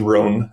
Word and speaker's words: Roan: My name in Dutch is Rowanghar and I am from Mas University. I'm a a fourth year PhD student there and in English you can say my name is Ron. It's it's different in Dutch and English.